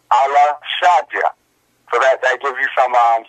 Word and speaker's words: El Shaddai: There is no such thing as El Shaddai. That's in fact pronounced Allah Shaddai.